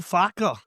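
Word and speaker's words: Farke: against it's uh Daniel Faulner, isn't it? The the lead's manager. Yes, it's Daniel Fauler. You've got to say it like that. You can't just say Daniel Far.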